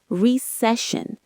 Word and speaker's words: recession: Next up, recession. The stress is on the second syllable. Recession, not recession.